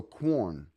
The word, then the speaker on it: Quorn: Corn. Like corn, but with a W after the K or the C, however you want to pronounce it.